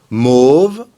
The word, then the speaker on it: mauve: Mauve, masculin singulier, mauve, masculin pluriel, mauve, féminin singulier, et mauve, féminin pluriel. Faites attention pour la prononciation, le A et le U, on l'a déjà vu, se prononcent O. Mauve.